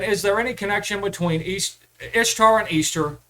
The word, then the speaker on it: Ishtar: Who is Ishtar? Easter is the correct pronunciation.